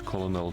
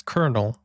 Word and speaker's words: colonel: The Gendarmerie retained Swedish leadership as Colonel Tage Glerup continued the effort from 1918 to 1921. That's a common misspelling. Not misspelling, mispronunciation. Colonel. It's colonel, but they spell it colonel in English.